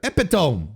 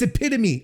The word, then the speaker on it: epitome: Oh, it's epitome. Okay, that's right.